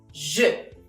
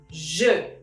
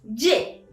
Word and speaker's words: je: Je. Significa yo en español. Je. Ahora, ¿recuerdas cómo pronunciar la E en français? E. ¿Ok? Alors, répète après moi. Je. No es je. No es je. Es más suave.